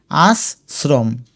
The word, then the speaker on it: আশ্রম: আর এটা উচ্চারণ করতে গিয়ে দেখবে আস্রম আশ্রম হয়ে যাবে।